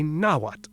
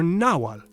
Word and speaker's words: Nahuatl: They say Nahuatl or Nawal.